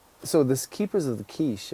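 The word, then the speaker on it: Quaich: So this Keepers of the Quiche, or Cache, I think is the pronunciation.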